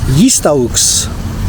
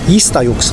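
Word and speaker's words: jistgħux: So the GH is silent. So but it kind of elongates the word before it, so it becomes, and then J's are pronounced with a y. So yistauks. And then the X is a ush.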